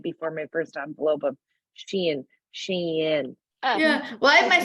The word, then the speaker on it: Shein: things I did before my first envelope of Shein.